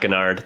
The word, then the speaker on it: Guignard: Guignard. No. How do I say your last name? Pretty close. It's just Zac Guignard. The second G is silent. It's a French last name.